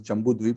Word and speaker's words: Jambudwip: So the right pronunciation is Jambudwip.